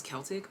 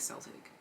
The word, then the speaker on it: Celtic: People always pronounce this as Celtic, but I like Celtic. I'm sorry.